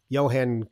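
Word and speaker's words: Jon: to tell me yeah i say john christensen but he's like no it's johan i don't know i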